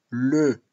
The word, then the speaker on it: le: En el caso de el niño, en francés, je dis le. Es importante pronunciar e.